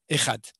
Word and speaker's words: Echad: réponse est très simple, il faut le prononcer comme les Yéménites qui le prononcent comme le the anglais, c'est-à-dire il faut dire